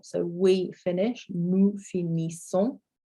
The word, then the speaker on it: finissons: So nous finissons, so we finish, nous finissons. So your NS, well, your N is an sound, and then your S on the end there is silent, as is often the case.